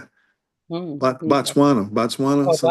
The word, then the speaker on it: Botswana: because I was thinking about hmm, was it Boca Tawana? Isn't it? Is that how you pronounce it? Okay. Botswana, Oh, something like that.